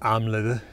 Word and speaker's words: Amleth: norris old icelandic omlothy probably something like amla in the uh medieval danish pronunciation of saxo not amleth for what it's worth